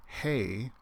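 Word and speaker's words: ἡ: But if you use a rough breathing mark, then you have an H sound at the beginning, and the word hey is one way of saying the.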